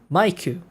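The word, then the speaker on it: マイク: Maiku, not Miku.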